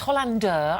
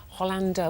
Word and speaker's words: Hollander: the Rev this is Tom Hollander and it's Hollander I'm so sorry I mispronounced it earlier Hollander where's that name from probably no where is